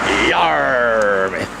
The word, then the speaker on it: Yarmouth: You gotta say it like a pirate. Yarmouth. Yar.